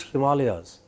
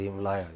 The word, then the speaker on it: Himalayas: tahe and you know the great himalayas they are pronounced as himalaya i feel like killing them when they say him liar you know or ganga